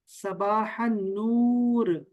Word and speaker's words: صباح النور: इसका जवाब होता है सबाह नूर, ये लाम साइलेंट है, सबाह नूर।